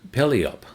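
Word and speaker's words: Puyallup: and Pelleop. That's the pronunciation that the uh person provided to me in Washington.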